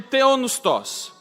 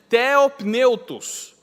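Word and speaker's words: θεόπνευστος: do grego do termo theopneustos, ou, falando só todas as letras, o jeito errado de pronunciar é theopneutos, vem de Deus e vem de sopro, de espírito, de fôlego.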